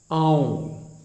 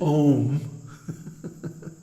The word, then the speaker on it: Aum: secrets that the pranava, Aum, don't mispronounce it Om, because first of all, it has three letters, A-U-M, A-U-M, and each one gets a full beat. So it's not Om, it's Aum.